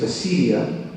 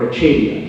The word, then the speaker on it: acedia: And this is the last one, I promise, is acedia or achadia, depending on how you pronounce it.